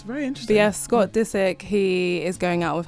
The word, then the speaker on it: Disick: It's just Disick, Disick.